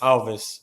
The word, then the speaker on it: Alves: to start it off how do you pronounce your name in Portuguese we've got a bit of a history in This Club of mispronouncing people's names horribly yeah uh is my first name uh and then my last name is alides Alves but you can just call me if it's easier for you guys or